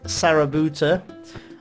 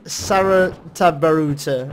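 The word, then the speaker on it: Sarutabaruta: So we're going to be going to East Sarabuta. And... did I say it right? Oh no. East Saratabaruta.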